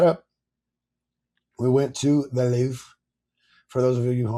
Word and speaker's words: Louvre: You gotta say it with you gotta roll your R with the back of your tongue. Louvre.